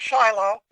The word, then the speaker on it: Shiloh: PDFs at uh Tel Shiloh or Shilo as the Hebrew uh folks pronounce it.